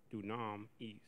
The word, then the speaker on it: dunamis: Phonetic pronunciation. Do na dunam is. Mm-hmm. Do na is. Dunamis. There's definition.